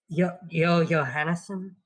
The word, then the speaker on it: Johannesson: that in not Sweden the J's are pronounced as y and not j. By the by, Johannesson is how it would be pronounced in the accent you're trying to do.